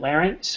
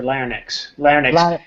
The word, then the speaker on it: larynx: i think called uh larynx right voice box or what how do we say it larence or laranex used to be larynx and then when i came to north america is larynx larynx yeah vibration here yeah